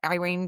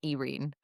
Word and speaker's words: Yrene: So, next time, next session after the party, uh, Irene goes, I always want to call her Erene. So, I every time I say her name, I'm like, ei.